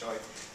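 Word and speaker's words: Chua: It's a Malaysian name so it's pronounced choy in 1971 in his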